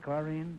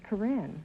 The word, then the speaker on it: Corinne: this is Karine Clark is that the way you pronounce it chlorine no Groucho it's Corinne Korean man are you